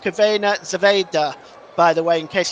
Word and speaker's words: Crvena zvezda: That's pronounced Crvena Zvezda, by the way, in case you're seeing that on your screen.